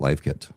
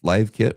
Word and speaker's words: LiveKit: model to pronounce because live and live are spelled the same.